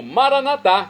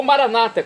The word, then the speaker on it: Maranatá: E agora eu clamo Maranatá, como dizemos nós, católicos, vem do dialeto aramaico de Jesus, ou Maranata, como dizem nossos irmãos separados, os evangélicos ou protestantes. Não importa, a pronúncia e o significado é o mesmo.